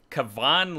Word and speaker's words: Cavan: Help me out with the pronunciation, but with the 30th pick, the Warriors selected Cavan Looney, I believe, not Kevin.